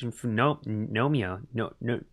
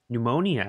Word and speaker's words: pneumonia: hope I don't catch nomia pneumonia out there it's so hard to read that word I always forget if the p is silent my name what is